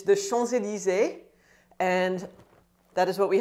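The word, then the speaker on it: Champs-Élysées: the e so it's chanzelli so you don't say the p it's not chomps elise or anything like that again it's the schonzelize and that is what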